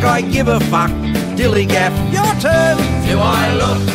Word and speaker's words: DILLIGAF: That's spelled D-I-L-L-I-G-A-F, Dilligaff.